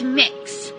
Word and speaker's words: Mix: name is mix k it's mix so kind of like cookie mix or mixing bowl that sort of thing that's how it's pronounced that is my name